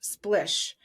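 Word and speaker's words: Splisch: Dylan is also the co-director of Splish, that's S P L I S C H pronounced Splish, a gender affirming swim and activewear brand launching in the spring of 2024. Splish is a design studio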